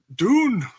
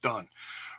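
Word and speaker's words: Dunne: Sheena Bay's leg defending against Candice larae Pete Doon Don dune I always say it wrong Pete Dunn vs.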